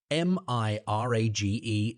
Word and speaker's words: mirage: it up he added Mr age and marriage m-i-r-a-g-e is pronounced Mirage said valency shortly picking up her